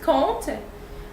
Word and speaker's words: compte: Then you see it's gonna be C-O-M because there's a P, but this P is not gonna be pronounced in this word, so it's pronounced compte, which is an account or to count.